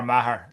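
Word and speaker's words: Meagher: get from the spelling of his name to pronouncing it Mar?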